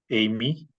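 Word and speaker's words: εἰμί: A ver cómo se pronuncia primero aquí, James. Amy, Amy, ¿verdad?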